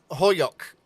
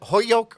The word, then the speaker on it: Holyoke: What about a town around here that's mispronounced? Ludlow, you can't get. Chicopee is easy. Springfield. Yeah. Holyoke. Holyoke. Is it Holyoke or is it Holyoke?